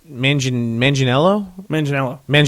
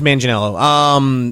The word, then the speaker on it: Manganiello: him in this movie his name is Joe Manganiello. Magello or something. Yeah, it was. I think it's Manganiello.